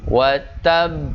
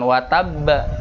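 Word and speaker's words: وَتَبَّ: harus qalqalahnya kalau Wah wattab wettab bekerja dibacanya gitu wattab bukan watab Apa bedanya Jadi kalau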